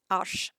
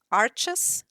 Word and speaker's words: Arches: For example, my sheets from Arches. I know that in all the English videos I am looking, it always is pronounced Arches, but it is a French company, and the right pronunciation I've looked it up